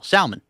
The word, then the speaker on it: Salmon: You pronounce the L, Salmon. Like John Salmon. Yes, 100% you do. Instead of Tim Salmon.